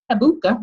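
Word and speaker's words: Habakkuk: you know, by um Proverbs 18:29 and he habuka habuk, that's how you pronounce it.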